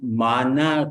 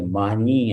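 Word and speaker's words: معانی: لیکن بہرحال اب گلدستہ مانا کہتے ہیں بھائی، صحیح تلفظ تو یہی ہے لیکن عادت نہیں ہے، مانی ہم لوگ کہتے ہیں.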